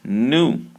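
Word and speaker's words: ν: measured in meters now this here looks like a v it is not a v it is pronounced new nuu nuu new you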